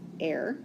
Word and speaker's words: are: is an air a r e but it's pronounced air and a hectare and then the square kilometer